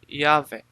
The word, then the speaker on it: Yahvé: Parece provável que a pronúncia original tenha sido Yahvé, tanto por causa da